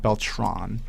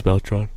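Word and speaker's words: Beltrán: well there's also has Beltran Beltran on it Beltran not beltron it is Beltran he sells Beltran actually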